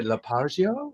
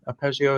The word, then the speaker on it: arpeggio: well uh la la how do you say lapagio is yeah i'm not a music guy but is that like the beginning of music is that is that is that right it's arpeggio is like the intro so